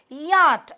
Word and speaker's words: yacht: Yacht, இதில் அந்த CH is silent.